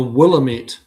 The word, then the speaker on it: Willamette: I'm from the Willamette. That's how I'd pronounce it.